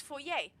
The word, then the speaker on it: foyer: Oh, it's French. It's foyer. Okay. So, I was pronouncing it right.